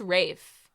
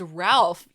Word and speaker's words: Ralph: I swear it's Rafe. I swear. I'm kidding. I'm kidding. I joke. Imagine if I like am wrong and everybody's like, "It's Ralph, you idiot."